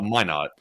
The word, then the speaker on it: Minot: told that b52s from Minot uh or is it minote is it what how is it pronounced it's Min not Min not Air Base have been